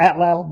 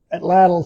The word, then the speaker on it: atlatl: the um uh from what I heard the correct pronunciation is the emphasis on the second syllable. I I always call it atal, but atal seems to be the correct way to say it.